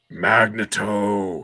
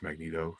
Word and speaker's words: Magneto: where like you know storm screams from the Hammond heavens magnato he's like actually it's pronounced Magneto or and she you